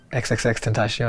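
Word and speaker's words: XXXTentacion: his name and i'm like how do you pronounce it he's like xxx tentacion and i'm like okay cool i was like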